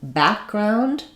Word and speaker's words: background: So in background, we don't really let this K sound out because we have a G sound following. So we have the first syllable is stressed, we have the back, and then we have second syllable secondary stress. Background is a compound word. Compound words are almost always stressed on the first syllable and have secondary stress on the second syllable.